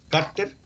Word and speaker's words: cárter: Cárter. ¡Oh! Cárter es con acento en la A, ¿cierto? Cárter.